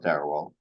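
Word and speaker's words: Dharawal: Okay, we're on Sarawal land in Wallandilly, which is pronounced Sarawal or Darawal, but it sort of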